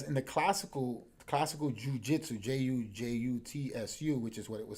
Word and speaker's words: jutsu: And that's what fascinates me, because in the classical Jiu Jitsu, Jutsu, which is what it was spelled like and correct and pronounced, the real stand-up samurai was like that.